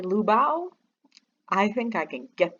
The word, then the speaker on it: Liu Bao: the lou and uh the bau is pronounced bow like take a bow so um if i just say lubao i think i can